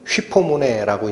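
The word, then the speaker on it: ὑπομονή: 원래 헬라어의 음으로는 휘포모네라고 읽히는 단어인데 앞에 있는 휘포가 뭐냐면 아래라는 뜻이에요.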